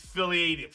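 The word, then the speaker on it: Philadium: So it's Philly-adium. So it's Philly-adium, Palladium. Look it up.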